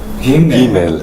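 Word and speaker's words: גימל: 그러면 Gimel. 김멜. 이제 좀 이렇게 강하게 하긴 하는데 김멜.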